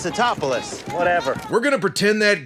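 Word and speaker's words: Tatopoulos: And I guess Roland Emmerich must have thought his name was hard to pronounce since they turned it into a running gag here. Dr. Nico Topopopoulos. It's Totopoulos.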